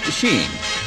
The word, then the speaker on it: skiing: Skiing should be pronounced sheeing, but this led to some unhappy misunderstandings, especially among the French.